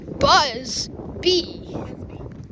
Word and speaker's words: Buzby: So how do you say Buzby? Buzby. Oh, yeah. Yeah, my name is Buzby. Yeah. Get it? My name is Buzz B. Yeah, it's like Buzz.